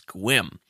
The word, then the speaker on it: Sequim: 7 Cedars casino in Sequim Washington it's spelled sequin but they pronounce it's quim because the weird people and December the 21st